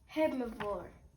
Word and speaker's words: herbivore: The H is silent. Start with the what? And an H. Herbivore.